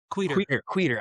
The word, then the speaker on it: Quider: actually next week quater I always I know it's not quitter I always feel bad